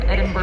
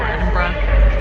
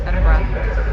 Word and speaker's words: Edinburgh: catch our train to Edinburg now Edinburgh got to say it right Edinburgh so we're sitting here